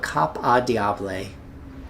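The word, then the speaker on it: Cap au Diable: We're going to pick uh Caab, and I'm pretty sure I'm butchering that, but Cop Adiab is how the Southerners pronounce it.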